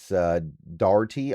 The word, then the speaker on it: Dougherty: But looking at Jimmy here, looking at Jimmie Dougherty, 47 years old, and I struggle pronouncing that name. It's Dougherty.